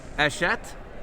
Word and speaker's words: Hachette: We are here with Danny from Hachette. Yes, I got it. I pronounced it correctly.